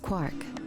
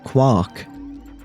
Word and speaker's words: Quark: Quark is also a German word, which is pronounced Quark.